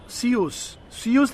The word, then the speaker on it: Zeus: So where these sent by सीयूस, ZEUS नाम है लेकिन उसको प्रोनाउंस किया जाता है सीयूस।